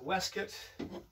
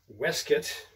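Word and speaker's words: waistcoat: case so there we are on goes the weset spelled waste coat but pronounced weset that was a bit of a bad way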